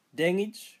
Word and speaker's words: Dengij: Pronounce as de eng itch for deng itch.